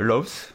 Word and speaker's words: Lowe's: Donc je vais essayer de le prononcer correctement. C'est Lowe's, voilà.